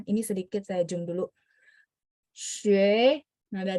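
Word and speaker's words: 学: Nah U ini harus dibaca mulutnya setengah bulat, xue, xue.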